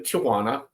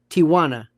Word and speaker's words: Tijuana: You were the only person I've ever spoken to in my entire life, an American, who pronounced Tijuana correctly, not Tijuana.